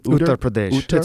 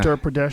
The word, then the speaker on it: Uttar Pradesh: Uttar Pradesh. It's a region. Yeah. Uttar Pradesh.